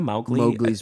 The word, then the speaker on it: Mowgli: mowgli's Palace you know mowgli's Palace yeah you know about that no mowgli's Palace was obviously from The Jungle Book Mowgli that's how you say it Mowgli yeah Mowgli um Disney